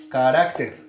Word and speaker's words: carácter: Palabra carácter. Ter. Muy bien. 1, 2, 3 sílabas. ¿Cuál es la sílaba tónica de la palabra carácter? Carácter, carácter o carácter. Carácter, ¿verdad? Muy bien. Listo. Marcamos entonces la sílaba tónica. ¿En qué posición está?